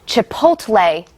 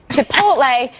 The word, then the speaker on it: Chipotle: Rubio because on special report I believe he pronounced Chipotle chip wait Chipotle to polt a yes he did it wrong